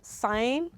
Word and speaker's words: sign: knows that's an example two silent g we have sign silent g h we